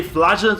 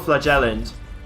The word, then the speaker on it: flagellant: So you can say flagellant or flagellant. And both are okay. Like one of them is American, the other is British, though.